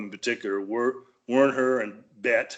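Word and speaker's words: Beit: particular were Werner and Bet. Does that spelled right? Sound right? B-E-I-T. That's correct pronunciation.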